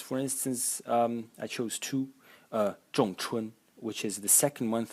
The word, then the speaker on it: 仲: the characters where this zhong character can be found. So the first character in the series is pronounced zhong. Zhong. In the fourth tone, and its meaning is middle, intermediate, or second.